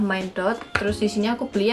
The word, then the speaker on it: Mine.Dot: Jadi dia ini tulisannya adalah Mind, ada titiknya ini dibaca dot, jadi bacanya adalah Mind Dot.